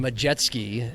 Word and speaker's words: Majetsky: I got a text, and it was a person, and it was a guy on a jet ski. Because the new kid from the 2-time Colorado Gatorade Player of the Year, Austin Majetsky is how you pronounce it, and so that's all I did.